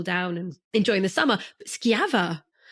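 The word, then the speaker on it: Schiava: people might not have heard of which is skava and Lin if I'm pronouncing correctly would you like correct okay good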